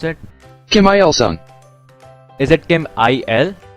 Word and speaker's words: Kim Il-sung: So if that day turned out to be well, how do you pronounce it? Kim Il-sung.